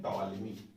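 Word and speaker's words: Ptolemy: Claudius टॉलेमी, ठीक है, इनको हम कहते हैं टॉलेमी, पी साइलेंट रहता है, टॉलेमी।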